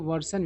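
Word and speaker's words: version: वर्जन को वर्सन भी पढ़ा जाता है, वर्सन और वर्जन दोनों सही उच्चारण है ना।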